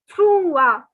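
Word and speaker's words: trois: Then 3 is trua. So don't pronounce the S. Take your different colored pen, circle it that you do not have to pronounce the S while speaking. So it is trua.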